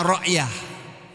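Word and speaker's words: رعية: Ryatun tulisannya. Membacanya ryah.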